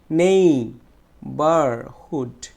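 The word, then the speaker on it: neighbourhood: তারপর আর একটু লক্ষ্য করে দেখো, এখানে লেখা আছে নেই, দেখো এখানে নেই, নেই, এই নেইটা হচ্ছে ট্রেস সিলেবল, তাহলে এই নেইটাকে আমরা জোরে উচ্চারণ করব, নেই, নেই বার হুড, নেই বার হুড, নেই বার হুড, নেই বার হুড।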